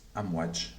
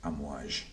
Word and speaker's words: Amouage: i recently discovered that the correct way to pronounce it this name is um watch and not a mirage so I'm sorry if I made the mistake